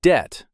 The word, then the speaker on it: debt: We corrected common mistakes like lend versus borrow, earn versus win, and the silent B in debt.